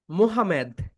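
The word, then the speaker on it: Mohammed: ইংরেজিতে এটা বলে মোহামেদ।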